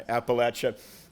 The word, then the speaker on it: Appalachia: uh background for the senator uh she's from Appalachia I said that right didn't I Appalachia uh we nobody pronounces Appalachia to her satisfaction apparently glad to